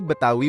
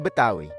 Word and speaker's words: Betawi: Berasal dari kata Batavia, yang lama-kelamaan berubah menjadi Batavi, kemudian berubah menjadi Betawi. Pengucapan Betawi sendiri disesuaikan dengan lidah masyarakat lokal yang kesulitan mengucapkan kata Batavi.